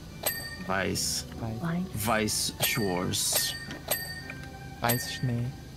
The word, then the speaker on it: Weiss: They did it a German way. Yeah, so that's pronounced Weiss. Weiss.